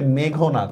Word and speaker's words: মেঘনাদ: আমরা কিন্তু মেঘনাদ বলি যদি অনেকে, এটা হচ্ছে মেঘনাদ।